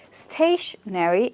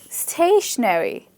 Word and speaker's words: stationery: have and this is stationery and stationary. You pronounce them just the same way but they are spelled differently as you can see. So stationery, so stationery, the first